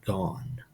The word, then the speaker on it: gone: G on or and it doesn't make the O say its name so it says gone one of those things